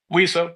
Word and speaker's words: WESO: it wesso or wio you could pronounce it wio like we so back we so bad okay